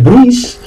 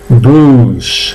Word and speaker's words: bruise: Tenemos otro igual, no es bruise, la I no suena, se pronuncia bruise, que es un moratón.